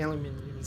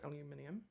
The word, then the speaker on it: aluminium: you aluminium of course that is the correct way to pronounce aluminium it is not aluminum there aluminium yes I'm purposefully being inflammatory um actually both ways are perfectly acceptable just depends on what p the world you're from is more likely um and